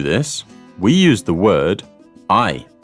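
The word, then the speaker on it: hay: we use the word I spelt h a y not like hey though in Spanish the H is silent and so we pronounce just the A and Y it's pronounced like the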